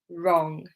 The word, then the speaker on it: wrong: So yeah, right wrist, wrong. Silent W because it's WR. WR, silent W. Just remember it like that at the beginning of the word.